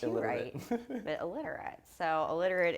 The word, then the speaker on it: Eliturite: Yeah, see, Even though it's pronounced illiterate.